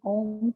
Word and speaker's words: Om: We start our practice with chanting Om 3 times. So remember the Om has 3 syllables. Oh, the longer one, and then in the end, very soft.